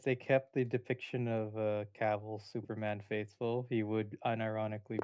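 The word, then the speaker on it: Cavill: But in terms of Is it Cavl or Cavil? Henry Caval or Henry Cavil. Caval. It's Caval. Oh, okay. Yeah, I mispronounced it for years, too.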